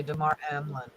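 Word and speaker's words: Damar Hamlin: say his name tomorrow Hamlin I would say DeMar emlin yes thank you John Dunning yes the children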